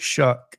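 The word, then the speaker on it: Shough: It spelled like it's rhyme with doe. Tyler show. Is that it? Weird. They spell they say it shuck, but it look s h o u gh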